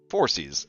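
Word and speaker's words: Phorcys: forecast uh or forces forces let's see how you pronounce it um how pronounced late on me four C's okay four C's like foreskin but four C's got it um Moon Maiden is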